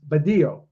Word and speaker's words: Badillo: You don't pronounce the L's. It's Badillo.